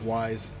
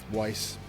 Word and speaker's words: Mark Weiss: it was taken during the day photographer Mark Wise Weiss I always mispronounce that Mark Weiss told the band he